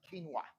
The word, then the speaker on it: quinoa: A lot of people um pronounce it like quinoa or like they say it different ways, but it's pronounced quinoa.